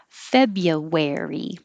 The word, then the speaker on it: February: noise written and feb you don't say the r febru you don't even say the r at all this is just dividing it into syllables feb but it really sounds like fabia or feb u but no r february and the where